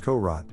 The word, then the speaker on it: Korat: england in 1896 but whether it was truly a courage pronounced korot or simply a self